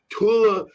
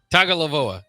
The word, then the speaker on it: Tagovailoa: The game plan for the Maryland Terrapins is to stop Tugalavova. How you say it? Tagovailoa. Thank you.